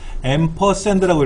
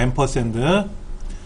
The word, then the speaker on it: 앰퍼샌드: 앰퍼샌드라고 읽어요. 앰퍼샌드.